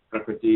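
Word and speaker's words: प्रकृति: So Prakriti is just 3 short syllables.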